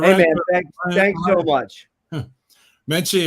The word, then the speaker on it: Menche: Menche, it rhymes with munchichi, all soft and cuddly.